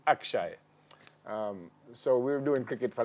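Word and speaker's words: Akshai: job is to teach his name is spelt a KS h AI suppose we call him Akshay so we're doing cricket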